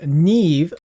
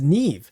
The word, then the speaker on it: Niamhe: in the game called Neve, Spear of Nesa. Now, obviously, the spelling of this champion's name doesn't really match, but apparently in the Irish uh pronunciation, her name is Neve.